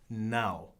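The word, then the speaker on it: não: on it see and how do you say no is now it's a little bit more than n o like it is in Spanish it's n a with the squiggly over the a and then oh no it's kind of like saying now but except plugging you know so now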